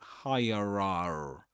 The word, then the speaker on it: hierarchy: The thing is that it's not that's not pronounced in in this accent in standard southern British English. You know, you don't say hierarchy. Hierarchy. You don't say that. But hierarchy hierarchy.